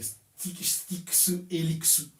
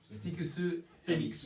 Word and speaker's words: STYX HELIX: En japonais, c'est Styx Helixu. Styx Helixu.